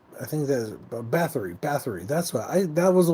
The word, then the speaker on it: Bathory: And just in case, Bathory is spelled Bathory, which is like Bath and Re.